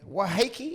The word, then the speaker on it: Waiheke: Waiheke, is that how you pronounce Waiheke Island?